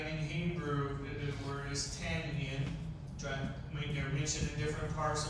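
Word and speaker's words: תנין: Dragon in Hebrew, the word is tannian. They're mentioned in different parts of the Bible. It's pronounced tannin.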